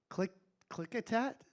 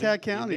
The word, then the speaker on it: Klickitat: I can't even pronounce some of the other counties, but Wasco and Klickitat? Does that sound right, Ted? You nailed it, buddy. Klickitat County.